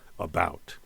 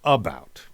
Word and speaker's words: about: So about, for example, the word about is iambic because we give a little more boost to the second syllable, about. We don't say about, we don't say that.